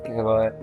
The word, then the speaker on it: Kehwah: Sachet Koul with us, and he is leading a brand which is a Kahwa manufacturer, and you pronounce it as Kehwah, right?